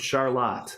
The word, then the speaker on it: Charlotte: It's spelled Charlotte, yeah. But we're fancy here, so we pronounce it Charlotte.